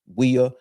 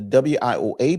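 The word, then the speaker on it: WIOA: Some pronounce it WEA, but it's uh the WA program, which stands for the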